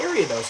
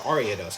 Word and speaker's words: Ariados: I didn't talk about area those actually or ariados however you want to pronounce it I think area